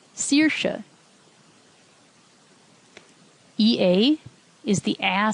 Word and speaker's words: Saoirse: AOI also gets pronounced E, as in E or Saoirse.